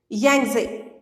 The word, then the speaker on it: Yangtze: Yangtze, how we will pronounce it? Yangtze, T is silent.